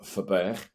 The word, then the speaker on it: Verburg: Dave H Dave V if you want to give it its correct Dutch pronunciation you can call it Dave for which lends its well